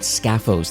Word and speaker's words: Skafos: Well, in today's episode, my guest is Michael Pritchard, who's the CEO and founder of a company called Scaphos, and that's spelled Skafos, Scaphos.ai.